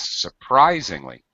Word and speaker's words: surprisingly: surprisingly uh surprisingly yeah the um stress is on Rise surprisingly modern yes okay uh